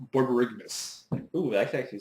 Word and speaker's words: Borborygmos: I've always said it wrong. I know I have because I've always added an A right after the G.